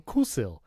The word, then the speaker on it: Coolsil: So I got this one from Coolsil. Which they actually told me that's how you pronounce it.